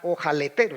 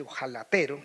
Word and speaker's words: ojalatero: El ojaletero, ojaletero, se pronuncia así, ojalatero Burgos, un viejo loco